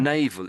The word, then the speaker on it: navel: navel, Navel, and it's exactly the same pronunciation as the other one.